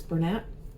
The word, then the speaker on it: Bernat: And I know people pronounce it Bernat. I used to say Bernat, but I think it's Bernat.